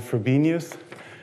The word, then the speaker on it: Frobenius: everyone knows the name phobia news often called Frobenius it's spelled FR oben i us okay so what